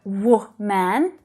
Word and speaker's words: woman: hear it really clearly it's the unstressed syllable that follows in so that's the schw sound it's really soft and it's low in Pitch almost not there you don't hear wo man that second syllable is reduced wo wo woman all